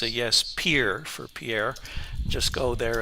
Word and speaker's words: Pierre: Pier for Pierre.